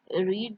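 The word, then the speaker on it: read: रीड जो है वो स्पेलिंग में सेम होता है, लेकिन हम उसको रेड पढ़ते हैं, रीड, रेड, रेड।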